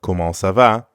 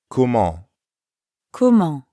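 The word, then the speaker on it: comment ça va: means how Kumon Kumo Kumo ends in the nasal sound ah to pronounce that sound first say ah while dropping your job it at the same time try not to push air through your nose see if you can feel the difference between ah ah and all all ah now the whole word Kumon Kumo now you practice repeat after me MO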